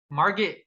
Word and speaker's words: Margot: Margot Robbie, Margot, Margaret, how do you say her name? That's Margot.